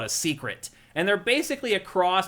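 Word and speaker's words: Seikret: You hop on the secret, it just follows those green flies to the next mission. They're called secrets. S e i k r e t. It's spelled differently, but pronounced that way.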